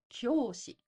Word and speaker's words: 教師: Notice the glide, きょ. The yo is written at 1/4 the size of ki. Plus, we have a long o sound, so we need to add u. 教師.